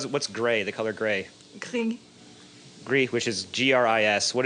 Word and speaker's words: gris: Gris.